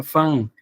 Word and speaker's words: Van: sobre esto el el el van que ven acá van no se pronuncia van se pronuncia fan Entonces cuando ustedes dicen vango lo están pronunciando mal es el término o el nombre Más bien es Vincent Van Go eso se pronuncia con f no con con con b entonces aquí tenemos la